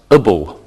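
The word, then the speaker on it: -able: an adjective can end with a B L e which is pronounced a bull for example Liz never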